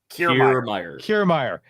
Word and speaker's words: Kiermaier: But I wanted to add the comment that she had about the Kiermaier, but how do you pronounce his name? Kiermaier. All right.